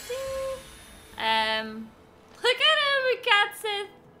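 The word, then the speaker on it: Cait Sith: at him cat Sith I refuse to call it Kate Sith cuz it's weird although I think it's it is spelled Kate Sith but all my life I have called him cat Sith believe it or not because he's a cat um wait where where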